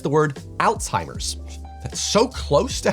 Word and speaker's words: Alzheimer's: was I oh yeah to be fair to the Brits their prononciation is actually the closest to the original as the word originated from the German neurologist who discovered it aloise Alzheimer what's ironic about this